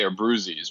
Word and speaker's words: Abbruzzese: My family, it's a very Americanized way of saying, we say Abbruzzese, but I believe the Italian familia and from which I come from, it's closer to like Abbruzzese.